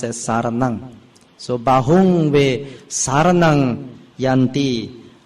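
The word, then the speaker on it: saraṇaṃ: Now in Pali language, the pronunciation, when you see the third word, saranang, the M with the dot at the bottom is pronounced with the NG sound, like Malay NG, like Padang.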